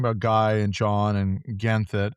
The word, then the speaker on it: Ganthet: Well, on that note, we keep talking about Guy and John and Ganthet. Gaunthet. I can't pronounce that Got that. name. Ganthet, yeah.